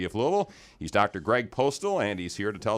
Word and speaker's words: Postel: Postel, Postel. It is Postel.